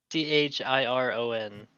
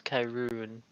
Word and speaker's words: Chiron: you spell your name c h i r o n pronounce Kyon wouldn't it be Chiron it sorry I KY